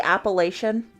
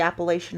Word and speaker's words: Appalachian: Well, it's like, I just learned the other day, how, do you say Appalachian? Like the Appalachian Mountains?